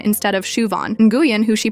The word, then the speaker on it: Siobhan: There's Siobhan, who gets called Sioban instead of Shuvon. And Guuan, who she pronounces like New Jen instead of Win.